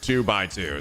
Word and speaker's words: 2x2: By the way, what's the official pronunciation of 2x2 2 by 2?